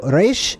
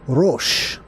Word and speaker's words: Reish: letter R okay so Reish is pronounced r a y s h and it means head or you could also say rosh right it's like because